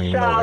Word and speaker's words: inshallah: Now, you old bootleg ass Muslim, you don't inshallah, even know Arabic. God willing, yeah. Inshallah. Inshallah, yes. Yeah, all right, there it is. All right. Whatever will happen, yeah, whatever. Inshallah.